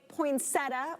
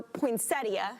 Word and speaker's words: poinsettia: night through january 1st whether you say poinsettia or poinsettia how do you say it ron poinsetta me too yeah i think